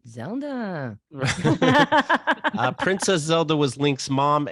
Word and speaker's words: Zelda: You're pronouncing it like the video game. It's actually very Ashkenazi. Zelda.